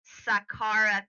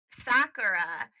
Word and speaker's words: Saqqara: Her name is Sakara Carr.